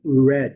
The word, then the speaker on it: red: E e esquecer de não colocar i aqui no final. É red. Não tem i aqui no final não. Red termina em bad.